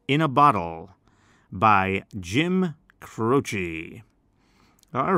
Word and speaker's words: Croce: a nice short name, Croce. That C sounds like a CH, Croce, sounds like a CH.